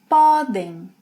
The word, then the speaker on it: podem: Poder in the infinitive has a closed O sound, poder, but when conjugated in the present tense, it opens.